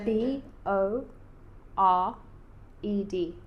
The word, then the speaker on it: bored: Otherwise, you just go straight from the end of the word to the D.